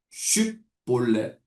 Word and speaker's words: 쉽볼렛: 그래서 요단을 건느려고 하는 사람에게 당신 혹시 에브라임 사람 아닙니까?라고 라고 질문하여서 만약 아닙니다라고 하면 한 가지 발음을 시킵니다. 쉽볼렛 쉽볼렛이라는 말을 하게 해서이 발음을 제대로 하지 못하고 씹볼래라고 말하면 에브라임 지파 사람들이다라고 단정하고 가차없이 죽입니다.